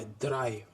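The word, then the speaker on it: drei: द्राई में भी ई आई है इसलिए आई पढ़े, डी आर ई आई, द्राई.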